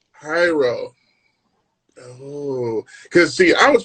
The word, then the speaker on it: Jairo: It's pronounced Hyro. Hyro.